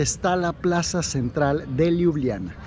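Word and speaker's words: Ljubljana: la Plaza Central de liubliana liubliana se escribe con jotas en lugar de is pero a quienes lo ven y a las jotas se dicen como allí algo así entonces es Liliana muy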